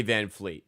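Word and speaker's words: VanVleet: P still say Van Fleet. They do say Van Fleet. Yeah. Oh no, it's Con. It is Con Canipple. I'm just saying it's it's spelled Canal.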